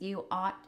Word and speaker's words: Aught: And you can find the podcast, You Ought, and we should say it's spelled AUGHT like the Aughts.